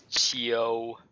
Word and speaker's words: Qiu: So yeah, the Qiu kind of in English you would sort of pronounce that as Q, but it's Qiu Xing Qiu.